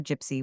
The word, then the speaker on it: gypsy: and hence finally are gypsy which should be pronounced with a hard g and written as by